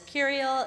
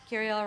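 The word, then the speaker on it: Kiraeyl: My handle is Kiriel. It is K-I-R-A-E-Y-L. Kiriel rhymes with imperial, or if you're hungry, it's cereal.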